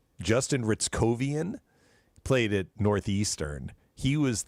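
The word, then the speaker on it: Hryckowian: It's pronounced Ritzovian. Justin Ritzovian played at Northeastern.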